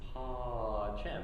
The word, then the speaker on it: pacem: Okay, so it'd be like do na no bis pa chem.